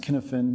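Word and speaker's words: Cynefin: significantly in this framework which i believe is pronounced Kinnison but I could be wrong it's a Welsh word David Snowden created this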